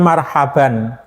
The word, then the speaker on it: marhaban: pengajian menyambut Ramadan itu Mohon maaf ini jangan sampai salah sebut jadi kita menyebutnya marhaban marhaban itu Selamat datang Kita menyambut dengan senang bukan Marhaban bukan Marhaban jadi apa namanya bukan tarhib tapi tarhib pakai h ha Nah kalau tarhib itu